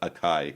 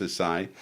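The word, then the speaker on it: açaí: is and a lot of people call it a chi and they mispronounce it's pronounced acai and and basically the acai berry is a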